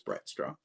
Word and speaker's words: Brightstraw: I'm pretty sure it's Brightstraw. Might have just been mispronouncing it last stream. It is possible. You can go check my version of the book. It is Brightstraw. Bavlorna Brightstraw. Straw. Okay. Like a plastic straw?